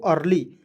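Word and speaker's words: early: हूं इसे ठीक है इ को अ लिखना है आर को छोड़ दीजिए एल को ल लिखिए अंतिम में वाई है इसका उच्चारण बड़ी के रूप में करेंगे और आर है तो रिप लगा देंगे हो जाएगा दोस्तों अर्ली अर्ली मींस होता है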